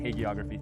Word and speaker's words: hagiography: Well, in our last conversation, and I'm going to pronounce the word wrong, you introduced me to the word hagiography, hagiography, thank you.